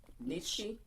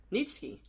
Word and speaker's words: Nietzsche: Friedrich, and I can't pronounce that. How'd you say that? Nietzsche.